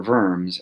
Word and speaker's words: Worms: diet of worms or worms as it's known because the Germans pronounce their W's as V's um the diet of